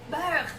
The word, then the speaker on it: beurre: Beurre, c'est parfait. Beurre. La prononciation, c'est parfait.